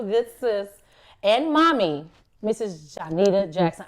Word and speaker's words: Johnnitta: Johnnitta Jackson. I say Johnnitta, she say her name is Johnnitta, but I've been calling her Johnnitta since I've known her.